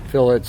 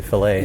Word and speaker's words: fillets: saw people doing fillets did I pronounce that right yeah fillets I always wanted to say filet but that's right John John i' like